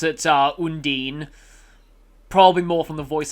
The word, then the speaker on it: Undine: they're named after i usually just go for undine i i definitely don't think that it's hondini like they say in um tales of sinfonia pretty sure that's not how you pronounce it but yeah okay i